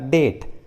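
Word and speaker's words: debt: उसी तरह doubtful, subtle, देखिए इस इंग्लिश वर्ड में टी है और टी के जस्ट पहले बी है, इसलिए बी साइलेंट है, सटल। उसी तरह डेट, सटलनेस।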